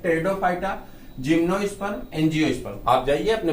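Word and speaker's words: Pteridophyta: फिर से देखते हैं, थैलोफाइटा, ब्रायोफाइटा, टेरिडोफाइटा, टेरिडो में पी साइलेंट है, टेरिडोफाइटा, जिम्नोस्पर्म, एंजियोस्पर्म।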